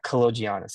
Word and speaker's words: Kaloggianis: Oh, It's otherwise we would have had Kaloggianis. yeah, Kaloggianis. That's how you say it.